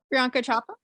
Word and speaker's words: Priyanka Chopra: Oh God, can I pronounce her name? Priyanka Chopra?